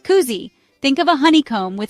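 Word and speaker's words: kuusi: senses Cousy means six say cou like a pigeon then say C like you're showing someone something cool say it Koozie think of a honeycomb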